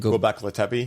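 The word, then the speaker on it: Göbekli Tepe: Gobekli Tepe?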